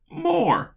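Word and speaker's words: Thomas More: Not less but more.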